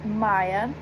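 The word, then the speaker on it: Maia: My middle name is Maya. It's spelled M-A-I-A, and I think it's Spanish for May.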